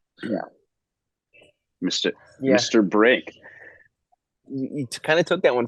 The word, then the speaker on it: Yeoh: I Mike, think it's how do you say Yo.